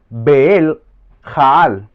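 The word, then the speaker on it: בליעל: beliar viene del hebreo beli yaal se escribe b e l I y a y L beli yaal pero su transliteración fonética o su manera de pronunciarlo es beel jaal y esto significa atentos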